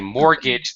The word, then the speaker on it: mortgage: payment by the way mortgage the t is silent just mortgage yeah and